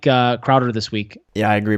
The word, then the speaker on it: Crowder: So I really like Crowder this week.